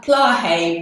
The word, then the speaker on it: Plahay: Oh, it's Plahay, but there are different Plahay. pronunciations. It's Beautiful. an Indian name, so some people Yeah. call it Plaha. It used to be without the Y, and then I think the British added the Y.